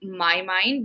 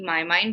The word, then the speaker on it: Mynd: mndd yeah so ask when you pronounce it it's actually my mind because our logo is slightly different it's not just mind it's when you read it out it's actually my mind but yes we were